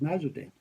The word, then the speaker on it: Nasreddin: And they still tell the stories of Nasreddin Hoja or Nasreddin Hoja. Wherever you are, you'll have a different pronunciation. But that's my pronunciation for it anyway, it's Nasreddin.